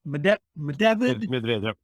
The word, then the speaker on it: Medvedev: Is it Medvedev? Medvedev.